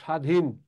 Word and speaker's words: স্বাধীন: বফলার কোনো উচ্চারণ নেই, বফলার কোনো উচ্চারণ নেই, বফলার কোনো উচ্চারণ নেই, যেমন স্বাধীন। লেখো যেমন স্বাধীন, বফলার কোনো উচ্চারণ নেই যেমন স্বাধীন।